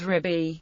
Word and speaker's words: Rabbi: pronunciation so far and yemenite Jews pronounce this word riby the modern Israeli pronunciation rabi is derived from an 18th century innovation in ashoni prayer books although this vocalization is